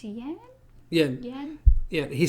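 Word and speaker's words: Yan: Yen. Yeah, he says yen. Yeah. It's spelled Y-A-N in the description or in our subtitles, but he says yen.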